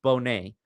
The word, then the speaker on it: Boney: I mispronounced your name earlier. It's Keith Bonet.